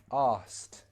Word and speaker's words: asked: naturally in a sentence we would remove the k sound sounds like this asked i know it sounds weird asked example sentence oh she